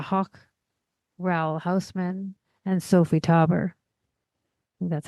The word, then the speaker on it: Taeuber: Some of this work actually contained works from artists like George Grosz, Hannah Höch, Raoul Hausmann, and Sophie Taeuber.